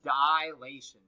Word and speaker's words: dilation: how you say it just know there is no a here it's dilation right there's no a in between i and l oh hey look it's